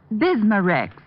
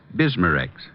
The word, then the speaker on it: Bismarex: Bismarex. Is that how you say it? That's right, ma'am. B I S M A-N R E X. Bismarex.